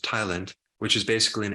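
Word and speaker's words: ptyalin: there's this enzyme called Thailand which the p is silent but it's pronounced Thailand which is is basically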